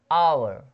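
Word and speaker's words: hour: वैसे आवर, आवर मतलब होता है घंटा, आवर, आवर, ठीक है, एज साइलेंट रहता है।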